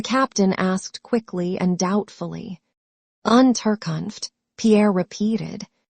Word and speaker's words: Unterkunft: "Unterkunft," Pierre repeated. "Unterkopf," said the captain, and looked at Pierre for some seconds with laughing eyes.